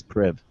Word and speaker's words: Priv: with the blackberry then the priv uh is pronounced priv or private i guess it's priv and uh uh which